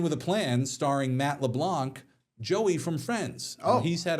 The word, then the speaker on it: LeBlanc: But um yeah, but but he was Lebank, right? Did I say his name wrong? Leblanc.